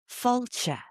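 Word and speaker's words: Fáilte: Even simple things like falcha. Falcha is welcome. Falcha. It kind of has 3 syllables. It has that long ah sound, the fada, the accent.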